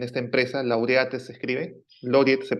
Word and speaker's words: Laureate: Yo trabajaba en esta empresa, Laureat se escribe, Loriet se pronuncia.